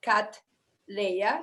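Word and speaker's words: Cattleya: flower of colombia so it's pronounced cat leia like princess leia actually and meets the soul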